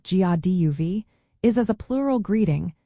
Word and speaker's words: Dia daoibh: The right way to use dadeib, which is pronounced like gaduv, is as a plural greeting, meaning hello to you all or God be with you all.